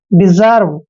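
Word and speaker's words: deserve: मात्रा पढ़ते हैं और जब भी एस से पहले ई आता है और जब एस के बाद ई आता है तो एस का उच्चारण हम ज करते हैं और आर को र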